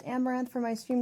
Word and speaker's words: Amouranth: hey guys i'm caitlin i am pronounced amaranth for my stream name